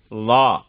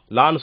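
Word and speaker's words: ظاء: இந்த லா சொல்லும் போது எப்படின்னு சொன்னா, நுனி நாக்கு முன்னால இருக்கக்கூடிய அந்த பல்லுடைய நுனி பகுதியை தட்டணும், மேல இருக்க பகுதியை தட்டணும். சொல்லி பாருங்க, லா. லான்னு சொல்லும் போது தட்டணும், லா.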